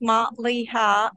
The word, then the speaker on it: Malia: My name is Malia. It's pronounced Ma-li-ha, and I first made the triangle, and then a couple of flowers, and then a bear.